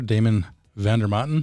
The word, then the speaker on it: Damon Vander Maten: one of my partners in Pipestone Holdings here, Damon Vander Maten. Did I say that correctly? That's right. Is that the correct Italian pronunciation?